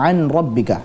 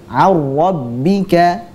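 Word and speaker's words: عن ربك: Yang betul adalah dengan memasukkan nun sukun tersebut ke huruf ra. Jadi seolah-olah ra-nya ada dua, tasydid. Menjadi ar-rabbika. Coba. Ar-rabbika. Ar-rabbika. Ar-rabbika. Nah, itu adalah bacaan yang benar insyaallah.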